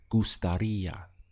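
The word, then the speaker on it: gustaría: important that you stress this part here over the eye where you can see the accent so the sound is gustaria how you express i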